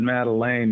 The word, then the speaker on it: Madeleine: It's actually, I pronounce it Madeleine, you know, which is a little bit different.